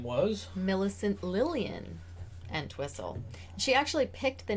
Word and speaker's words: Entwistle: Entwistle. Entwistle or Peg Entwistle, but Entwistle is pretty much okay, I'm clicking the consensus. There we go. It's like whistle and whistle. Okay, but that wasn't her real name.